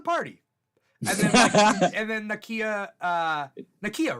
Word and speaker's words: Nakia: And then and then Nakia, right? That's her name? Yeah. Nakia. I think I always say Nakia. It is Nakia.